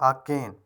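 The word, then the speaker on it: arcane: जहाँ पर आर silent है वो इसे प्रोनाउंस कहते हैं अकेन।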